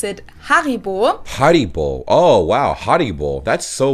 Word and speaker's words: Haribo: haribol that's so weird it's like a different emphasis on different syllables we say haribo haribo but they say haribo so their emphasis is on the odd and our emphasis is on the e haribo haribo but it's